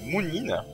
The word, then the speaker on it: Moonin: Ouais, on a récupéré Moonin, je sais que c'est comme ça que ça se prononce.